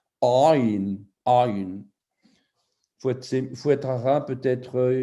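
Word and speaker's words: עין: prononcer moi-même parce que c'est une lettre qui se prononce Aïn avec la gorge. Donc, c'est une gutturale. Aïn, Aïn.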